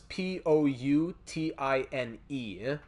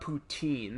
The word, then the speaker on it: poutine: So it's the way it's spelt is Poutine, and it's not poutine, it's poutine. So that's our poutine talk for the night.